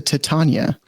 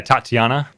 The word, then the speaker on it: Titania: is unsummoned but you're you read that wrong it's not big question what's gonna happen to Titania it's what's gonna happen to Titania you said it wrong you said yeah Tatiana Tatiana the fairy queen